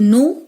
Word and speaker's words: know: KNOW नो और NO नो, दोनों का प्रोनाउंसिएशन सेम है, लेकिन दोनों का मीनिंग जो है वो अलग है। से अगर हम KNOW नो में से साइलेंट लेटर K और W को हटा देते हैं, तो जब हम लिखेंगे